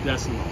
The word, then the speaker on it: Desamot: in the possession of garlic decimal remember the t is silent he is lucky for